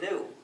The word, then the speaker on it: gnu: And the reason is, according to the dictionary, the G is silent and the word is pronounced new.